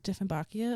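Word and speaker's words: Dieffenbachia: better yeah I just just say it defin bakia like it's spelled like d and bakia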